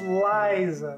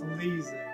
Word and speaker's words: Liza: Also, her name is pronounced Liza, not Lisa.